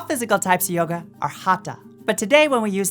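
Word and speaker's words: Hatha: a gentle practice yoga which sounds like hot and ta rhymes with LA and Pa and Ma and not like bath or math is an umbrella term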